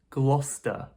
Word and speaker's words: Gloucester: You might be thinking with this one Glausester glosesster... It's actually much shorter than you might think this is simply Gloucester.